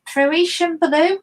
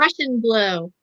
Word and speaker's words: Prussian blue: And this colour is Parisian blue. Is that how you pronounce it? No, Prussian blue.